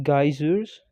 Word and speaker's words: geysers: Okay, steaming geysers. geysers, You can also pronounce it like geysers. No problem if you pronounce as geysers.